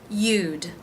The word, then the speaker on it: you'd: You'd, the Y consonant sound, the oo as in boo, and the D sound. You'd, all one syllable.